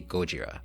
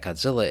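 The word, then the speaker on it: ゴジラ: He notes how it's actually Gojira and that Godzilla is a misprononunciation butchered by the media much like his own name.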